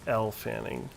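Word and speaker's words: Elle Fanning: Her name is pronounced like the letter L." Yeah, it's L Fanning.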